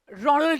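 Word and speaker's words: Roald: One, of course, being Satyajit Ray, and the other is this amazing British writer called Ronald Dahl. The O is silent.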